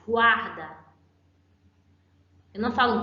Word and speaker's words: guarda: Mas eu tenho outra palavra em que eu pronuncio o GU e a próxima vogal. Guaco, guaco, guarda. Eu pronunciei GUA, certo? O U e o A, eles foram pronunciados.